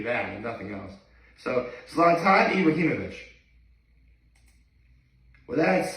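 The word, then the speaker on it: Zlatan Ibrahimović: Zlatan Ibrahimovic. That's how you pronounce his name.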